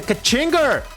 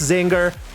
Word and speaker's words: Czinger: And now to end in style, we're going to be doing the Kachinger 21. I know, I know it's pronounced Zinger, but I like pronouncing iter.